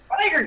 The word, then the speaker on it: Fyre: Funny enough, nobody can pronounce the fact that it's just fire with an alternative spelling. It's like SheaFyre. No! Fire, damn it!